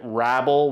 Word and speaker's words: Hrabal: Next, we go to Hurabball, or as you know, the announcers pronounce it, Rabble, which I don't like. So, I'll keep calling him Hurabal until he makes it into the NHL.